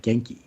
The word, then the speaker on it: Genki: Jason Reynolds figured out, like, no, it's Japanese, Genki, Genki. Oh. But so it is pronounced Genki, because that's always a debate.